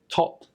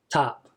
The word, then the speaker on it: top: And here's another difference between British and American. British accent would be o, top, top. But Americans are tap, tap.